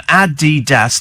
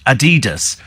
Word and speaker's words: Adidas: the the son uhuh it's pronounced uh Adidas not Adidas and it's after Adolf dasler who founded the company says Amy what's I